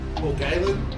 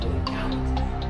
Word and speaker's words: Paul Gallen: We've got Laurie Daly, Freddie Fittler, Paul Galen, Paul Harrington, Harrigan, sorry, Glenn Lazarus, and Peter Sterling. All right. Mine's good. It's actually pronounced Paul Gallant. Galen. No, Yeah. what did I say? You said Galen.